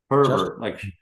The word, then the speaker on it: Herbert: Herbert, like Sherbert?